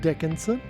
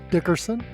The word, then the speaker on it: Dickerson: these years and now you're mispronouncing my name oh the shame the shame you know what it is I grew up seeing Angie Dickinson on TV and your name is close enough that uh that I think